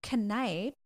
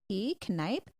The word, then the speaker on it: Kneipp: And Father Knipe, which is spelled Kneipp, Knipe.